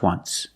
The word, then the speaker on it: once: W just W just once there's no T just once example they saw the